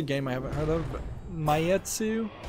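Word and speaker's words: Maitetsu: oh here's a game I haven't heard of mayetsu it's spelled m-a-i-t-e-t-s-u pure station is launching July 26th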